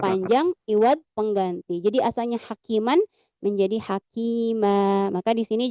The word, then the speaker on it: حكيما: Maka kita bacanya kan misalkan di sini contohnya hakiman asalnya ya. Tapi kalau kita wakaf menjadi hakimah.